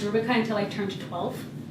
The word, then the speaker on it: Rubika: I didn't know that my name is pronounced Ruby kind so I turned to